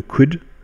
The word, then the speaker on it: could: could on remarque que dans could je prononce pas le l tous les mots anglais